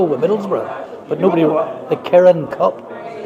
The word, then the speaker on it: Kirin: We won the Kirin Cup out in Tokyo with Middlesbrough, but nobody. The Kirin Cup. Kirling Cup.